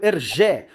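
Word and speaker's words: Hergé: Inicialmente experimentando Jeremy e Jeremiad, Rem finalmente escolheu Ergé, um nome inspirado na pronúncia francesa de RG, suas iniciais invertidas.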